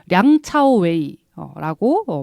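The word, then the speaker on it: 梁朝偉: 이제 유명한 배우죠 이제 남자 배우는 양조위 그요 량차오웨이라고 발음이 되고 있습니다 그리고 62년생이에요 83년도에 데뷔를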